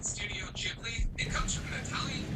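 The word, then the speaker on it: Ghibli: I call it Jibli just because that's what I've heard on a documentary I watched like 5 years ago, but I'm pretty sure it can go both ways.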